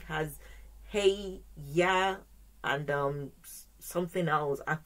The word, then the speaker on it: Yah: of his name is yeah y-a-h even though the spelling is different but it's the same pronunciation okay that is the